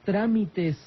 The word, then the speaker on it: trámite: Pues evidentemente, si es una esdrújula, usted cuente las sílabas, trámite. Son 3 sílabas. El acento cayó en la primera, quiere decir que cayó en la antepenúltima.